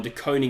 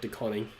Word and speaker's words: DeConing: DeConing is pronounced DeConing, not DeConning.